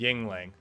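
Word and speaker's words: Yuengling: It's Y-U-E-N-G-L-I-N-G, Yingling. The way we like to pronounce it in college was Yanglang.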